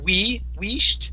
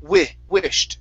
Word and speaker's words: wished: Instead of using a long E saying we wished, it's wished, short I.